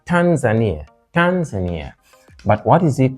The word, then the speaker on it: Tanzania: but codiv Cod the so Tanzania third syllable bana second syllable Cameroon